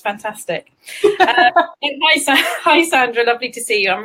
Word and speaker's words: Sandra: It depends. There's Sandra and there's Sandra, but I would say that's Sandra. Yeah. I love how you put the emphasis on it. It's fantastic. Hi, Sandra.